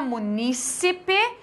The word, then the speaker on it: munícipe: Munícipe, proparoxítona. Então, nós temos alguns momentos em que a gente acaba pronunciando errada a palavra e, principalmente aqui, que